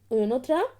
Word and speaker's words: Oenothera: और इसका जो साइंटिफिक नेम है वो बहुत ही थोड़ा अजीब सा है, तो आप लोग उसकी स्पेलिंग नोट कर सकते हैं. OENOTHERA, ओयोनोथ्रा.